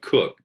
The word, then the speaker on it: Coke: of our favorite guys sir edward cook this spelled coke and this is this